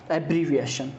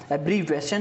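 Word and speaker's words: abbreviation: इसका जो प्रोनाउंसिएशन होता है वो होता है एब्रीविएशन। ठीक है, एब्रीवेशन नहीं होता है, एब्रीविएशन इसका प्रोनाउंसिएशन होता है।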